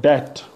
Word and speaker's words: debt: Like, B is silent in the spelling and final position MB and BT, like debt. So DEBT, debt, B is silent.